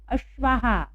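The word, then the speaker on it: अश्वाः: तो त्रयः अश्वाहा। अब देखिए यहाँ विसर्ग के पहले आ की मात्रा आई है इसलिए हमने हा बोला है, तो क्या बोलेंगे हम?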